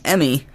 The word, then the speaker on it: Emmy: But my name, Emmy, is pronounced like an Emmy Award, kind of like an acting award where you don't act like yourself.